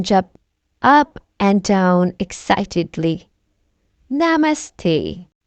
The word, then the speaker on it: namaste: Namaste, they repeat and slowly bow toward Miss Rabbit. How to pronounce namaste? Na, me, stay.